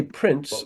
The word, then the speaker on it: prints: or printing or but when I say prints like footprints in the snows all of a sudden that T isn't pronounced at all isn't pronounced at all.